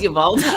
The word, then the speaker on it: Uvalde: I like And how you try to pronounce it the correct way. oh, And like sorry, nobody in Texas would ever. It's Uvalde.